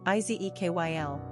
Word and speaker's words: Ezequiel: Pronunciation, Izekyl.